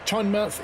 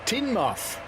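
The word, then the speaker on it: Teignmouth: Richie says Chinmouth is pronounced Tinmouth.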